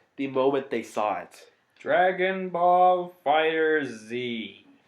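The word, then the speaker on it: Dragon Ball FighterZ: Dragon Ball Fighter Z. Actually, sometimes it's just pronounced Dragon Ball Fighters.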